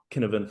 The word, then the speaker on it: Cynefin: It's pronounced Kinnovan from the Welsh, but it's Cynefin, I think.